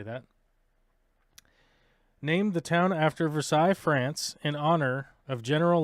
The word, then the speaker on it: Versailles: Every person that is native to this town will blow a gasket if you call it Versailles, because it's Versailles. It's Versailles, Kentucky. And they will bite your head off if you say Versailles.